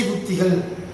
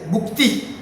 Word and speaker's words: புக்தி: படுத்தும்போது சில பேர் திசை புத்திகள் புத்தி எல்லாம் கிடையாது புக்தி திசா புக்தி நான் எழுதும்போது என்னைக்குமே திசை புத்தினு எழுத மாட்டேன் புத்தி இல்ல புக்தி புக்தி புக்தி நீ ஆரம்பத்துல